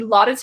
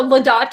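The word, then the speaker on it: Laudate: rosary groups together doing you can download the lotte app no ladate i always pronounce it wrong cause i pronounced it wrong for so long but i'll show it to you the ladate app and you can do the liturgy of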